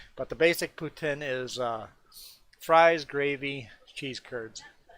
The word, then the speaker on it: poutine: Not poot. You know, a boot, poutine. But yeah, that's Poutine. Poutine. Yeah, basically it's pronounced, I think, in two different ways. I think you would pronounce it like that. I think the French people pronounce it Poutine. I think us Anglo-Canadians say Poutine.